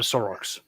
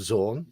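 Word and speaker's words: Xorn: It's a Zorn, not a Sorox.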